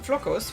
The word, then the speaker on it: flocos: it for this yum the word is flocos which means flakes you'll need to know how to say it if you want to